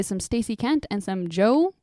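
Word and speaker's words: Djo: I've been listening to some Stacy Kent and some Joe, which is spelled DJ O, but it's just Joe cuz it's Joe Cury who plays Steve Harrington.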